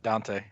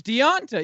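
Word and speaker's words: Devonta: apostrophe Ont a Foreman D D ' just pronounce that Dante no it's not it's deionta yeah d3 because you're apostrophe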